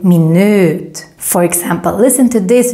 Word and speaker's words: minut: to English minute but very very different in pronunciation because in Swedish when we have a vowel with just one consonant coming after like in this case then the V gets extra long so that's why we